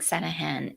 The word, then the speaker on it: Sanaghan: yeah thanks for asking the g is silent it's called santa han all right so patrick sanahan is a procrastination expert